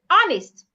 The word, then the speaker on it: honest: Another word is honest. The king is honest. The H in that word is silent. So it's not honest. The H should not be heard. Say honest.